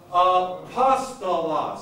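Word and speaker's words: ἀπόστολος: So, this word is not apostolos, This word is not apostolos. This word is apostolos.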